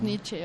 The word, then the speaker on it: Nietzsche: algo así, bueno, pero en alemán se deben de pronunciar todas las letras salvo cuando hay diptongos, ¿no? O sea, que ya como se construyen otro sonido. Pero sí, entonces Nietzsche. Sí, es Nietzsche.